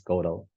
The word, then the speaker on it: Godot: But yeah, actually this name is a French name. So it comes from the French name Godeau or something, right? And then some people change it to Godot, Godot, where the T is silent in this play.